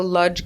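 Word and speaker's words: Łódź: there was something called the ludge ghetto that's how you say it in in Yiddish lud is how you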